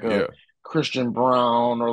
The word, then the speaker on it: Braun: Braun I know he I know they say it's round but you can't spell it that way and tell me that that's brown you just can't like